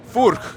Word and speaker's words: Furch: No, how do you pronounce it again? Furk. Furk.